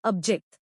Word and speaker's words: abject: इसका प्रोनंसिएशन है ऑब्जेक्ट।